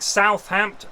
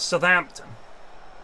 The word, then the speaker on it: Southampton: a good name yes Southern we don't say sub like Southampton it's not Southampton Southampton is it it's Southampton we don't say Southampton even in Southampton well generally that's around my way down Southampton but why is it